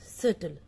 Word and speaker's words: subtle: Then we call it as subtle. Subtle. Subtle. Here B is silent. I'm sorry, B is silent. So subtle.